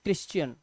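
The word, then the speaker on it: Christian: हैं कैरेक्टर ऐसे ही ये इसे क्या पढ़ते हैं इसे पढ़ते हैं क्रिश्चियन क्या पढ़ते हैं क्रस क्र क्रिश्चियन क का साउंड ऐसे ही सीच इसे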